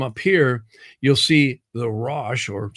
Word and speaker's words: ruach: And then notice as you come up here, you'll see the rash, or some people pronounce it ruach, but I do hear it pronounced rash a lot.